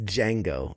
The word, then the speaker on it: Django: It's Django. It's a silent D.